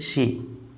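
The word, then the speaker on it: she: फिर है सी, ये शी, ये सी नहीं है, ये सी नहीं प्रोनाउंस करेंगे, शी मीन्स वह, यानी कि ये लड़की के लिए होता है।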